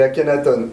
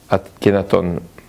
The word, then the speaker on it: Akhenaton: Et la prononciation correcte est On. Akhenaton. Mais Akhenaton, c'est la prononciation, on va dire, médiatico-française.